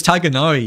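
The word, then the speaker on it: Tighnari: So, same as Tiganari, you know? It's always pronounced as tagonar instead of the other way around like yeah.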